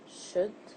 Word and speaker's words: should: The L is silent, as pronounced should, without the L.